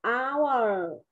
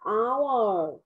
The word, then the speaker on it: hour: Con đọc là ừ, từ này là hour. Không phải là nguyên âm ừ mà, nguyên âm ao và nguyên âm âm r thì sẽ đọc là hour.